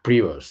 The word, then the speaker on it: Prevost: Ha dicho el el yo no sabía si pronunciar prebost, prebost o prbost, pero veo que es prebost, ¿no? En en inglés americano. En realidad, la verdad es que suelen decir privo según el acento la primera por estrés